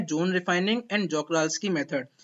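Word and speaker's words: Czochralski: इसका प्रोनाउंसिएशन ध्यान से सुनिएगा, जॉक-राल्स्की। क्या है? जॉक-राल्स्की।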